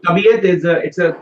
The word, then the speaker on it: तबीयत: So tabiyat it's a correct one.